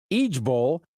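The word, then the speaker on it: IJBOL: the internet is pushing i-j-b-o-l pronounced each Bowl it means I just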